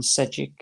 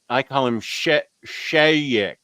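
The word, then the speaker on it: Šejić: Is that Stefan Sejic? Is it? Good question. I think the J might be silent.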